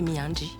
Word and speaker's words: Miandry: Mais il s'appelle Miandji, comme tu l'as bien prononcé tout à l'heure.